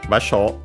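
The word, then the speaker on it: 場所: But yeah, basho means is unaccented and means place, location, spot, position, area.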